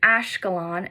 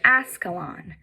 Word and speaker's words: Ashkelon: "Tell him it's Ashkelon, not Ascalon."